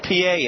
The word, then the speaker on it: Pie: Felix P.A., if you see his name, don't be confused. It's spelled like pie, P-I-E, but it's P.A.